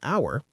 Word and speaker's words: hour: An hour, an honest person, an honor. These h's are silent.